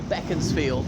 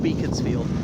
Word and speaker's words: Beaconsfield: mother died I so beckons field is not pronounced Beaconsfield back into the town of